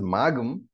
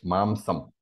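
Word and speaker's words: मांसम्: So, incidentally, I hope you know that while Arvind chanted, he pronounces magam. So, that gum is a Vedic form of pronouncing the anuswara. It's mamsam.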